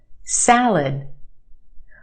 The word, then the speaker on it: salad: Try this one. Salad. Where's the stress in that word? Salad. If you said the first syllable, you're right. The sound in the first syllable. Salad. The second syllable is our schwa. Lud. It's said very quickly, and we have that sound. Lud, lud. Salad, salad. I'll try the salad.